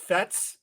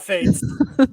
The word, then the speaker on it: Fetes: His name should be pronounced Fetss, not Fates.